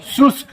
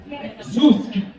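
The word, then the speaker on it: سوسک: Susk. Susk.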